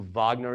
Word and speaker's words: Wagner: you've you know who wagner is it's spelled like waggoner but in german it's pronounced wagner this is why the